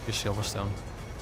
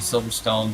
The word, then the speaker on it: Silverstone: Silverstone. It's not meta build. So though you are in GT in America, so we're used to saying silver stone, but the Brits say Silverstone.